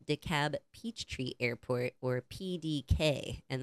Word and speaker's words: DeKalb: Well, in the Midwest, we say DeKalb. DeKalb. Yeah, that would be it. Yeah. Why would the L be silent?